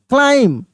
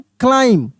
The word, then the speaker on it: climb: CLIMB, क्लाइम, क्या पढ़ेंगे? क्लाइम, क्लाइम। बी का उच्चारण नहीं होगा, बी साइलेंट है।